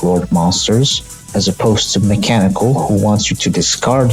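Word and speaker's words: Meklord Astro Mekanikle: the first one mecho Astro mechanical yes as it's spelled like that and I don't know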